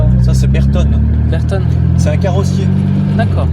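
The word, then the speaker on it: Bertone: Et comment ça se prononce Ça c'est Berton, Berton?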